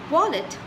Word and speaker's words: wallet: So this is pronounced as W and not as V. V is for van, whereas W is for watch, W is for wallet. So wallet, the T is pronounced. It's wallet.